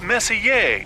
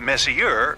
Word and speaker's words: Messier: Pronounce Messier, not Messier, as in, is your room messier than mine?